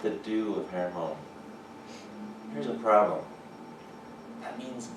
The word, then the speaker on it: Hermon: Right? Hermon. Say it like that. Not Herman, Mount Herman.